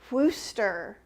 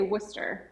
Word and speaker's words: Worcester: way to say it we say worcester worcester worcester that might not be correct it is correct and i just can't